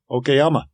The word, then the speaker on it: Okayama: Yeah, Okayama.